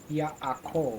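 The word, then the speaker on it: יעקב: The ayin is silent, so it's just like an aleph would be akov. Akov. Well done. Ya. Nice. Akov. Nice. Yaakov.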